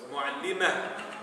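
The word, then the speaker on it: معلمة: The significance of tamarbuta is that if you end with that word, it is not pronounced like a ta, it's pronounced like a hamza. So it's mu'allima. Okay? But if it is continued as part of a sentence, then it's mu'allimatul, mu'allimatul madrasati. Right? So you pronounce the ta only if it's connected to another word.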